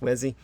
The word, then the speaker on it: Uesi: I believe that would be pronounced Wesi.